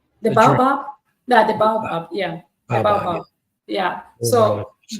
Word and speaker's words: baobab: How do you pronounce it again? The baba? The baobab? Yeah, the baobab.